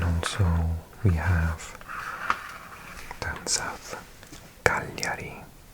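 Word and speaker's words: Cagliari: This is G L and in Italian that means you pronounce the L like and the G is silent.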